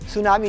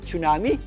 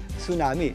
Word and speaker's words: tsunami: Ang tsunami po ay binibigkas ng tsunami. Silent po 'yan ha. Hindi po yan tsunami. Hindi po yan tsunami kundi tsunami.